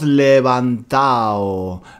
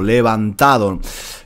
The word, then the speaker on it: levantado: chico dice nos hemos "levantao", nos hemos "levantao", nos hemos "levantao" "levantao." En el lenguaje coloquial... muy a menudo no decimos la d del participio pasado, levantado.